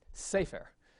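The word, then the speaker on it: סֵפֶר: But if the accent's going to be on the next to last syllable, you'll get a accent mark like this, and you're supposed to pronounce this sefer, which again is the correct way.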